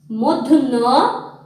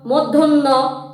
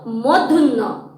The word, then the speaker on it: মধ্য: আলাদা করে ফেলি আমরা মধ্য এবং ড সুপ্রিয় শিক্ষার্থী বন্ধুরা তোমরা অনেকেই বলে থাকো মধ্যে মধ্য এগুলো কিন্তু সঠিক উচ্চারণ নয় আমাদেরকে বাংলা সঠিক উচ্চারণ শিখতে হবে আমার সঙ্গে বলো মধ্য আবার বলো মধ্য হ্যাঁ মধ্যন্য এবং ড